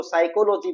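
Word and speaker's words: psychology: इसकी स्पेलिंग भी स्पेशली रूप से ध्यान रख लेना, इसको साइकोलॉजी बोलते हैं, तो ये PSY से स्टार्ट होता है, ये बात आपको ध्यान रखनी है।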